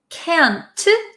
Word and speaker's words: can't: So a lot of Americans don't pronounce the T's at the ends of words. So can, C-A-N, can, and can't, we often say can't, can't.